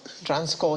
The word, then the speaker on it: Transcorp: August 14th, Transcorp Hilton, Abuja. Yeah, so the P is silent.